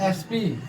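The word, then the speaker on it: SP: इसका भी प्रोनंसिएशन ए यानी वोवेल का आ रहा है।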